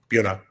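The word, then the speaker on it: Buena: really been competitive there bua and buav Vista are also at the very top of the list for New Jersey towns with really confusingly pronounced names like no no one coming into the state would ever think of call them anything other than bua and bua Vista and they get there and they're like no not confusing to Micah though so not confusing to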